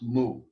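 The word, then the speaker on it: μυ: the way it's pronounced mu it is the m sound and when we transliterate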